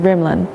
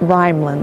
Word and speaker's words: Rimland: saying it right right i've been saying rimland it's not rhyme lin right rimland like rhythm do you smoke the